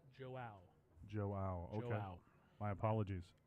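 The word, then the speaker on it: João: had a friend of this gentleman come and correct us, so we will pronounce his name correctly now. It is Joao.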